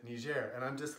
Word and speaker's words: Niger: talk about it they they're starting to say in EJ and I've even seen some news personalities who a week ago when they were talking about it they were saying Niger and now they pronounced it me Jer and I'm just like